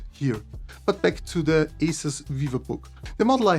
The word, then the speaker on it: ASUS: This is the Asus Vivobook S15 OLED. By the way, don't wonder why I say sometimes ASUS and not ASUS. This is how we pronounce this in German, and this happens from time to time.